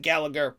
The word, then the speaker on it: Gallagher: That's spelled like Gal-laugh-er, but I pronounce it Gallagher.